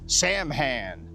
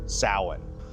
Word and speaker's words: Samhain: Now, it may look like it's pronounced Sam Hand, but it's really pronounced sin.